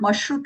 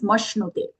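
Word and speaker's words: मश्नुते: Here mashnute, it's a half sha with a no. It looks like a ra, but it's not mashrute, it is mashnute.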